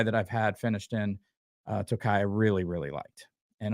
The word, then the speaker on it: Tokaji: It's a straight rye whiskey finished in Tokai barrels. I think that's how you say that. Tokai, it's spelled Tokaji, is a Hungarian sweet wine.